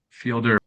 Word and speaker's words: Fielder: I think it's Fielder.